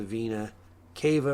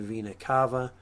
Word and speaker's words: vena cava: to the right atrium and that is the vena cava or the vena cava i hear it pronounced both ways and that returns blood back